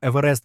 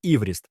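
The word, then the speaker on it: Everest: І хоча сам Еверест був проти цієї ідеї, назва закріпилась. До речі, прізвище Джорджа Евереста насправді вимовлялося як івріст, але в англійській мові з часом закріпилася інша вимова.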